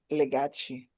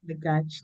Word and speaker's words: Legachi: It's pronounced Legachi. Legachi.